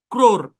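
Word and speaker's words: crore: ক্র, ক্র, ক্র, সি আর consonant blend. হ্যাঁ, ও এর sound oh, এটা সাইলেন্ট, ক্রোর। ও এর সাউন্ড, ও এর লং সাউন্ড হবে না, ক্রোর এরকম না, কারণ লং সাউন্ড দিতে গেলে আপনার কঠিন হবে, এই জন্য উচ্চারণটাকে সহজ করার জন্য ক্রোর বলা হয়, ক্রোর।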